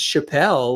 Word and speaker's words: Chapell: do it and it's Chappelle like and Dave right just like Dave I think I'm a